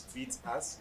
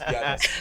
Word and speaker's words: Beatus: I would understand if you say Beatus because it's beat us, squashed together, but it's pronounced Beatus.